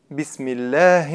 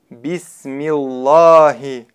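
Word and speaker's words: بِسْمِ اللّٰهِ: Бисмилляхи. Буква лям в слове Аллах произносится в данном случае мягко, так как последняя буква предшествующего слова огласована кясрой. Бисмилляхи. Неверно произносить так. Бисмиллахи.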